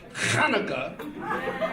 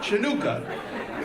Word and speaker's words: Chanukah: I was Jewish, so we had the Chanukah, Some people pronounce it Hanukkah, but I hate that. It's like you got a pubic hair stuck in your throat. So I changed it. It's Chanukah.